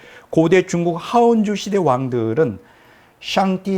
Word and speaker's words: 上帝: 우리 한국말로는 상제라 그러는데 중국어는 샹띠, 약간 좀 발음 비슷한가 모르겠어요. 샹띠라 그래요.